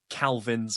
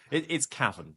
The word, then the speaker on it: Cavan: I've had everything from Calvins and Kelvins. It's Cavan. Cavan is fine.